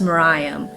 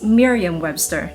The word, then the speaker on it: Merriam-Webster: it's to be pronounced Miriam. But well, then again, I am not the type who conforms to what people say. I go to the dictionaries and the dictionary says it's Merriam-Webster, not Miriam.